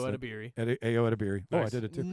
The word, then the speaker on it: Ayo Edebiri: You pronounced Ayo it. Adabiri. Ayo Edebiri.